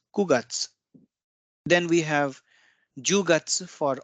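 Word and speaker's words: 九月: used hachigat's August September so here you can see it's not Q gutsu it's kugats then we have yogats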